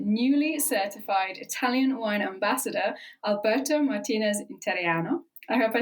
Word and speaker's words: Alberto Martinez Interiano: This is Voices with Rebecca Lawrence, and this week I'm joined by newly certified Italian wine ambassador, Alberto Martineziano.